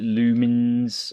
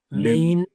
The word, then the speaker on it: Lumines: L Did we Did we determine how we supposed to pronounce the name of this game? Is it Lumens or L? Lumines lumines.